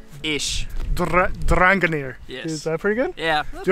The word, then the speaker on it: Drangarnir: he knows the place but how do you pronounce this place ranga near ich ranga near yes pretty good yeah do you have to